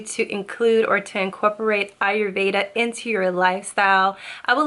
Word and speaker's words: Ayurveda: its spell are give a tip and it's pronounced Ayurveda Ayurveda Ayurveda Ayurveda let's talk about Arya Veda